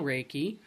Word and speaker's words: Reiki: know how to spell raiki it's re e i k i but pronounced r a y ke y um I have a